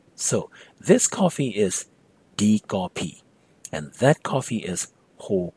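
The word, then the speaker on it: ကော်ဖီ: The word for coffee is, well, kopi, Burmese pronunciation of English word coffee, so you end up with kopi.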